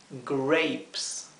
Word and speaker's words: grapes: o muchas uvas grapes la dificultad está en la letra r la r inglesa que se pronuncia con la lengua dada vuelta hacia atrás del paladar grapes para banana es banana